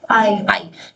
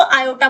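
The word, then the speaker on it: iota: आई। इसको आई नहीं बोलते इसको आयोटा बोलते हैं।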